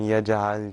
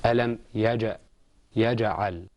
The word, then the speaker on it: يجعل: ألم يجعل كيدهم في تضليل. Okay, let's practice the qalqala there. Okay, it's ألم يجعل.